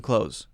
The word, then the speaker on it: clothes: should go buy some clothes oh I need some winter clothes clothes clothes and I cannot hear the difference between clothes and clothes if I say quickly so actually just say CL OSE now you might be